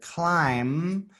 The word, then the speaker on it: climb: So instead of making the B is silent. So it just says climb.